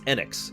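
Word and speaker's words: Enix: also the game that taught me how to pronounce enex it's actually Square enex they say it that way uh in this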